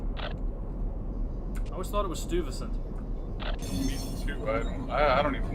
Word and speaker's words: Stuyvesant: Stuyvesant. Stuyvesant. Like Stewie from Family Guy. Ah. I guess. I always thought it was Stuyvesant.